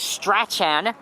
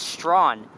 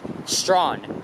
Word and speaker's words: Strachan: to pronounce it as Strachan, but hell no, that is not how you pronounce it. Not Strachan, it's Strawn. The C is silent. It's pronounced Strawn.